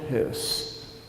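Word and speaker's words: Höss: the commandant of Auschwitz his name was Rudolf Hurst you know it's h-o-e-s-s but with an umlao over the O It's pronounced his house like er and he's caught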